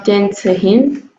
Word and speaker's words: Tänzerin: Ah, então é Tänzerin. Genau. Tänzerin. Tänzerin. Tänzerin. Tänzerin. E fala pra moça de novo aí? Tänzerin. Genau. Na sílaba tônica fica no início.